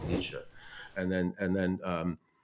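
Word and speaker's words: Nietzsche: He's written about all this but he's he wanted a book by Nitzka and they said Nitzka oh he was mispronouncing Nisha and then and then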